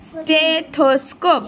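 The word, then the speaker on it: stethoscope: স্টেথোস্কোপ, stay, STE, stay, থো, THO, থো। স্কোপ, SCOPE, স্কোপ, এখানেও সিটা ক এর মতো আর THটা দ এর মতো উচ্চারণ হয়, কিন্তু এখানে থ হবে।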